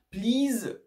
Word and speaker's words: please: Please respect the rules. Donc là, il faut faire attention. Le EA, c'est souvent un long I, donc ça va être please, ok?